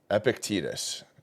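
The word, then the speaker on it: Epictetus: let's see let's see how this is epicus epic tetus okay that's how you pronounce it so this's a quote from epic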